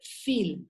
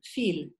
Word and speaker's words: viel: Vamos a la V, si es una palabra alemana, o sea, de origen germánico, digamos, se pronuncia como una F, viel, viel, ¿no?